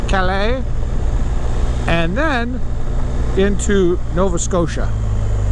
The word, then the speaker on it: Calais: go East through the town of Calis or as the locals say Calais and then into Nova